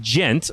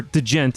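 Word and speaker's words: djent: Interview with I See Aura, Southern Ontario trio that combine the aggressive sounds of gent, or degent as my co-host likes to say. Degent. There's a D there. Come on, pronounce it.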